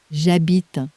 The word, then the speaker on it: j'habite: And in French, H says absolutely nothing, ever. It is the most reliably silent letter in the whole language.